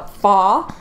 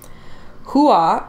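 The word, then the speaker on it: 花: more you know uh faw is the cantonese pronunciation of mulan's family name hua is the correct mandarin pronunciation and means flower hua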